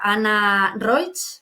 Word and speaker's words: Anna Roig: Y hoy tenemos aquí a Ana Roig, ¿lo he pronunciado bien?